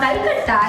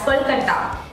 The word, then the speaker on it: Kolkata: And it's not Calcutta, it's Kolkata.